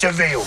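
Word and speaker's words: De Vil: in i'm cruella a spell devil but it's pronounced devil disney's cruella pg-13 theaters were ordered on disney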